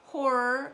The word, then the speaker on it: horror: The stress always goes on the first syllable.